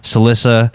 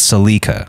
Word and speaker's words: Salika: Last week we said Salissa. It's not Salissa. It's Salika.